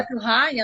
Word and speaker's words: Bettelheim: Bettelheim, assim que pronuncia.